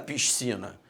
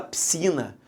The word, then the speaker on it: piscina: Você não fala piscina, você fala piscina. Então, repare que você não fala a letra S, você só fala a letra C.